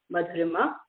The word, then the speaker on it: Madhurima: Hi, I'm Madhurima. You did not butcher my name, Lynn. It goes like a wave. If it's easier to pronounce it, it goes Madhurima.